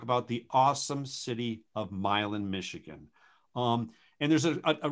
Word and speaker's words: Milan: of the things people need to know about milan is how the same island right it's not milano it is not milano but but milan it is um we are